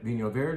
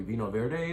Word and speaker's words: Vinho Verde: Vinho Verde, yes, that's how you say it. Not necessarily Vino Verde, but if you come in and say Vino Verde, we'll know what you mean.